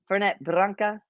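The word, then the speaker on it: Fernet-Branca: But the family pronounces it Fernet Branca.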